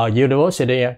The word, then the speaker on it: university: lại bắt đầu bằng cái âm cái chữ cái chữ là u tức là du đó đúng chưa rồi thành ra nó phải là a University chứ không phải là